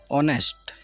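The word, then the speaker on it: honest: नेक्स्ट हमारे पास word है ऑनेस्ट। H silent होने की वजह से इस वर्ड को हम ऑनेस्ट से पढ़ रहे हैं और ऑनेस्ट पढ़ने की वजह से इसके सामने एन का यूज़ किया है।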